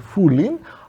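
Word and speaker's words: 拂菻: In modern pronunciation it is fullin. but it is reconstructed that in Middle Chinese with Middle Chinese pronunciation it would be sort of ptnim or bat lam.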